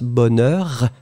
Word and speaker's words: bonheur: I mean, the for the pronunciation, you go strong in the beginning and you tend to reduce. Like for the sounds, you make them last longer and after that you reduce.